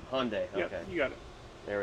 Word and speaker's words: Hyundai: Yeah, it's a Hyundai. Hyundai. Okay, you got it. There we go. I'm pronouncing it wrong this whole time.